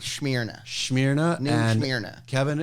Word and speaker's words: Smyrna: It's Smyrna. pronounced Smyrna.